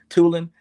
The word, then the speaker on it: Tulane: Tulan. Tulane.